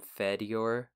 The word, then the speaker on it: Fedyor: If you're going to marry Fedyor, you might want to start pronouncing his name Fedyor. Fedyor. Like, have you fed your cat Fedyor.